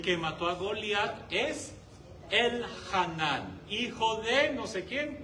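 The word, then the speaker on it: Elhanán: ajá, sí, acento en la A al final. El Hanán.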